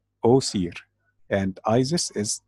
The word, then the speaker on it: Osiris: call him this day the ancient Egyptian way to say his name is was here o seer and Isis is a